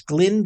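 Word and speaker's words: Glyn: that room like um Glenn John's, I think it's Glenn, G- L YN, I think that's how you pronounce it.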